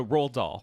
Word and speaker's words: Roald Dahl: were saying very distinctly ro old dog so roll doll rolled up that's what we're saying hooray i